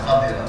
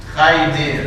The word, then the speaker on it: Khadir: Dah ada khadira. Jadi Nabi Khadir tu ialah hijau. Jadi Khidir dia macam ni lah. Khadir bacanya. Orang Melayu kita baca Khaidir. Khaidir itu tak tepat. Ni Khadir, Nabi Khadir.